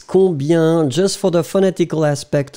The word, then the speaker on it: combien: together, so remember that the sound will be yin. So this E really gives you this yin. Combien. You don't hear any M or any N at all.